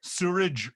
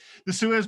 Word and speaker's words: Suez: But no, wasn't that Suez blockage? Note I got the pronunciation right. It wasn't sewerage blockage. The Suez blockage.